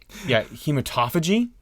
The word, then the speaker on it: hematophagy: Well, it's called hematophagy. So that can be either, hematophagy or hematophagy.